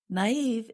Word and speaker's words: naive: Naive is spelled N A I V E. And we put two little dots above the letter I to show that we pronounce that vowel separately.